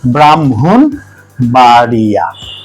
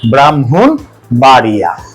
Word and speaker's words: ব্রাহ্মণবাড়িয়া: জন্য দেখেন গঠনের ক্ষেত্রে ম এর অবস্থান পরে হলেও উচ্চারণের ক্ষেত্রে ম আগে চলে আসবে ঠিক আছে